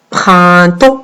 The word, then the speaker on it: printemps: Vous avez 2 sons dans le mot printemps. Vous avez le 1 et vous avez le AN. Le 1 qui s'écrit avec IN et le AN qui s'écrit avec EM car il est devant la lettre P. Donc, printemps. Et vous avez une lettre muette à la fin.